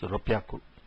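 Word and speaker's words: 六百: 600 is Ropyaku. Instead of being Roku Hyaku, it is Ropyaku.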